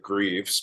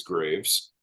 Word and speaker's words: Greaves: My half of my family pronounces it Greaves, but it is Graves, spelled Greaves though.